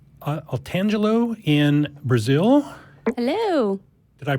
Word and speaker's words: Otangelo: Otangelo in Brazil. Hello. Did I pronounce that right? Good evening. Yes, Otangelo, that's all right.